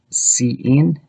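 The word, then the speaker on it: cin: in the example before the input and output from the standard libraries are pronounced c in and c out and these are standard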